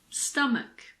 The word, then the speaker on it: stomach: H is also sometimes silent after a C. For example, chemistry, mechanic, school, stomach, technology.